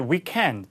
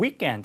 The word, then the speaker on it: weekend: 영국 영어에서 이제 weekend 이음절의 강세가 하니까 K 발음도 이렇게 소리가 나면서 자, 북미 영어는 weekend 하는데 그래서 weekend라고 해요.